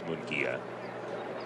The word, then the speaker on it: Mongia: I was looking right at the pronunciation guide and it was G H Ee in the middle. It's Mongia.